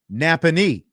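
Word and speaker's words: Nappanee: Napanee is how you say it.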